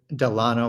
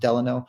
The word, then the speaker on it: Delano: Like Delano, or most people pronounce it Delano, but it's actually pronounced Delano.